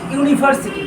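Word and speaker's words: university: আশা করি বুঝতে পারছ এবার হচ্ছে ইউনিভার্সিটি এখানেও দেখো ইউ এর উচ্চারণটা ইউ এর মত হচ্ছে অর্থাৎ ভাওয়েলটা ইউ উচ্চারিত হচ্ছে তাইতো তার জন্য এখানে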